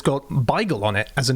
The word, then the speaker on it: beigel: My mother, who is 89, whenever the subject of bagels comes up, as it doesn't as often as you'd expect, always gets a little bit aggrieved because she's like, it's not bagel, it's beigel. B-I-G-E-L.